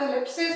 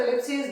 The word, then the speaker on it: ellipses: इसको इलिप्सिस और एलिप्सीज दोनों तरह से प्रोनाउंस किया जाता है।